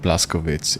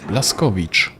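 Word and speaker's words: Blazkowicz: It's not Blascoitz, it's Blasco.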